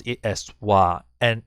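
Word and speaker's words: は: a topic about it instead of calling heart you pronounce as wah so in this situation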